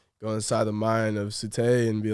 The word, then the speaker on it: Tsutai: Yeah, Tsutai. Tsutai.